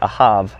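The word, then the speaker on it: אהב: We've got Ahab. Again, some people pronounce it Ahav with a V.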